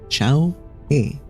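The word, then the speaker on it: 小河: It's pronounced Xiao He.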